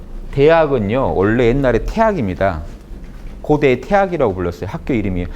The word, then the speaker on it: 大學: 고대의 태학이라고 불렀어요. 학교 이름이에요. 원래 이 대학이라고 읽으면 안 되고 태학이라고 읽는 게 본래 맞아요.